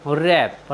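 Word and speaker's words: wrap: डब्लू आर ए पी रैप रैप मीस होता है लपेटना साथियों यहां पर डब्लू और आर एक साथ आए हैं इसलिए हमने डब्लू का उच्चारण नहीं किया है हमारा नेक्स्ट वर्ड है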